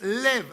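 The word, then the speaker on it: לב: La palabra corazón en el hebreo es lev, así mismo como se escribe, ¿no?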